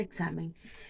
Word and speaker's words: examen: saber por qué motivo en dónde está la fuerza de examen yo digo examen digo examen o digo examen examen examen examen la fuerza está aquí en la penúltima sílaba significa que es una